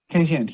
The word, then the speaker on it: Kazient: Prothome, did I pronounce it right, the company name you work for, CEO of Kazient? Kazient, yeah, that's absolutely correct. Kazient.